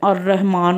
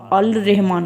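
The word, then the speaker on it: الرحمن: शमसिया आ जाए तो उसके शुरू में अगर अल आ जाए अलिफ लाम आ जाए तो लाम साइलेंट हो जाता है मतलब अ रहमान हो तो अल रहमान के बजाय अ रहमान पढ़ेंगे और रूफे कमरी है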